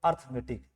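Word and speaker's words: arithmetic: इसी को आप बिगड़े आप लोग प्रोनाउंस जो करते हो अर्थमेटिक, but this is नॉट अर्थमेटिक।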